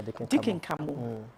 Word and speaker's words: Deacon Khamoh: Did I pronounce it? Deacon, yeah, Deacon Khamoh.